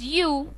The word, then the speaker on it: ewe: तो चलिए the seventh word for the evening was यू, ई डब्ल्यू ई यू. जी हाँ दोस्तों, स्पेलिंग ई डब्ल्यू ई है, पर इसकी प्रोनंसिएशन यू है, ई डब्ल्यू ई यू.